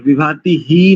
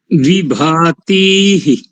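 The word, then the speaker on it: विभातीः: तो यहां पर ई ऐसा करेंगे विभाती ही नहीं करेंगे क्योंकि वहां पर ह का नहीं है विभाती अब हो गया बढ़िया एकदम शुद्ध हो गया और प्रजाभ्य नहीं करेंगे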